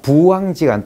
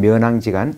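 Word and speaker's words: 부앙지간: 접대의 소훈, 기쁜 바, 즉 기뻤던 일도 송순 선생의 면왕정가가 있습니다만은 중국 발음이 후인 걸 볼 때 또 자전을 찾아보면은 고개 숙일 때는 부라고 읽어야 돼요. 그래서 저는 부왕지간으로 읽고자 합니다.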